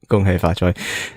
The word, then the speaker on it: gung hay fat choy: not terrible english accent hong hay fat choy gung hay fat choy happy year of a roll